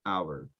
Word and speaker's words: hour: pronounced in english just there are some exceptions that it's silent like the word hour okay that that's just